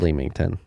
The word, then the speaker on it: Leamington: I know I pronounced it wrong. I think it's Leamington. Spelled Leamington. Leamington Spa UK is doing well with new members joining every month.